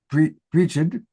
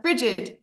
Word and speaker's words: Bridget: I don't know if you pronounce it Brigid. It's Bridget.